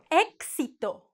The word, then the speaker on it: éxito: X. X. K plus S. For example, éxito, axila. Éxito is success.